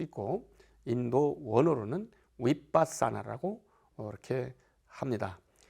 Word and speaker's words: 위빠사나: 우리 한국어로는 관법이라고 할 수 있고 인도 원어로는 위빠사나라고 이렇게 합니다 위빠사나라는 발음인데요 일반적 영어 알파벳으로 이야기를 한다면 VI ba